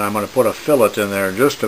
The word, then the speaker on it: fillet: more about uh putting fillets in this is how you pronounce it it's not the fish but we say fillet and a fillet is